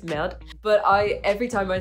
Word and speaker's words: merde: So normally it's merde, like meh, normally it's merde. But every time I say it, I really overpronounce it. I say merde, merde.